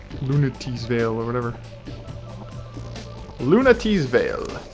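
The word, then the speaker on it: Lunatea's Veil: Lutee's Veil. Lunatee's Veil, or whatever. Lunatee's Veil. That is it. That's how it's pronounced.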